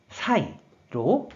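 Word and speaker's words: 栽: 그래서 재배할 재, 심을 재가 되었고 음으로만 사이로 발음한다고 설명드렸어요.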